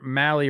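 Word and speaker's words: Mahle: Tyler Mali rhymes with rally.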